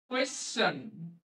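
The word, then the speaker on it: question: আর টি আই এন, এই এস থাকার জন্য টি আই এন এর উচ্চারণটা হয়ে গেল চন, কোয়েশ্চন।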